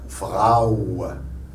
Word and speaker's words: Frau: Si c'était en français, ce serait un O, Frau. Mais en allemand, A ou Frau.